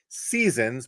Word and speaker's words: SZNZ: Think spring, the first of the Weezer seasons, but it's spelled SZNZ.